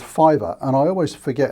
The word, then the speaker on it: Fiverr: someone put me on to a site called fiber and I always forget how it's spelt it's fi double V R I think